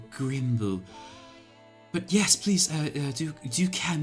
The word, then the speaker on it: Grymble: So the rat looks down, and they look at you and says, it's pronounced Grimble.